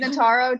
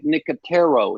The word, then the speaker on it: Nicotero: correct the record rachel it's pronounced frank nicotero he was the host